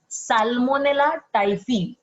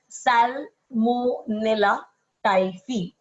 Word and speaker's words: Salmonella typhi: Although it's PHI, you pronounce it as phi, FI.